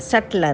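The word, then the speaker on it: subtle: Bieber Mumbai team NCR और जब बोलते हैं तो बीच साइलेंट रहता है एसयू बीटीएल ईयर सत्य बोलते हैं इसका मतलब बारीक बहुत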